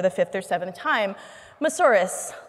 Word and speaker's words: Moussouris: fifth or seventh time mas horas like a dinosaur and I made t-rex arms for the Senators so that is how I taught them how to pronounce my last and KTM asaurus rex it's